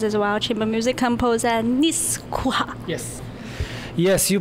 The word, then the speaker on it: Nejc Kuhar: player and composers as well, chamber music composer Nejc Kuhar. Yes. Yes, you pronounce it very well. You can pronounce it even better. It's Nejc Kuhar. But nobody can really pronounce it.